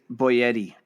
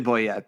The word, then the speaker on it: Boyette: Does he say his name Boyette or Boyetti? I would say Boyetti because that would because it sounds like Chef Boyardee, but it's definitely Boyette though.